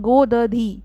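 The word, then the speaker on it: godhadi: देखो, इसे हम प्रोनाउंस करते हैं गोदधी, गोददीज़।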